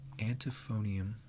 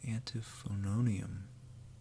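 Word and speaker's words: Antiphonarium: great tone and TIF anti phone IAM no no antiphon own IAM little extra syllable in there antiphon own IAM codex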